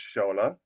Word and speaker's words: Shola: And it's spelled s o l but it's pronounced as s h o l just to make it